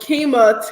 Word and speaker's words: Qimmah: So, for instance, for me, Qimmah that is pronounced. It was supposed to be spelled Quima in Swahili, and it's traditionally a male's name.